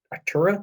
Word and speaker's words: Artura: Big new McLaren or Artura? Is that how you pronounce that? Yeah, the McLaren Artura.